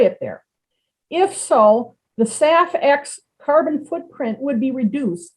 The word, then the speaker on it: SAF: is sustainable aviation fuel abbreviated as saf and pronounced saf hence the project named